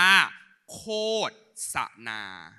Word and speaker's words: โฆษณา: คำ เนี้ ทุก คน อ่าน ให้ ถูก นะ คำ เ อ่าน ว่า โคษนา นะ เขา บอก ว่า ภาษา